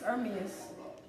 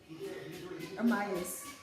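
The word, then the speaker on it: Hermès: His name is Hermes. Hermes. There's no R in there. I said Oh no, I'm talking about this word here. They're naming it whatever this is square. Hermes, Nipsey Hussle, Agandum.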